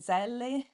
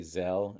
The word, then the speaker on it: Zelle: Venmo and Zelle, I think it's I think in America they say Zelle, and I've Zelle. always said Zelle because that's how Okay, it would be pronounced in Italy.